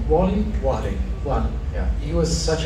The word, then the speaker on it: Warlley: Alves, how do you pronounce his first name? Warlley.